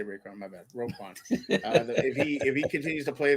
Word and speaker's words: Roquan: No, Roquan, not Raekwon.